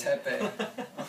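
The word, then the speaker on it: Teppei: wrong name I tell him my name is Tepe you're like really is that your name it's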